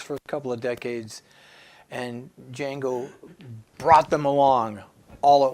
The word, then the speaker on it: Django: Anyway, we're talking tonight about Django Reinhardt, DJ Ag, the D is silent.